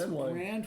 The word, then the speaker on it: Brandwein: Yes, you always call him Brandywine. Brandywine. I tell you, this is it's a condition. You could see somebody for it, but that's okay. It's Brandwine.